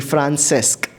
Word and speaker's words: Francesc: Am I pronouncing your name correctly? Francesc.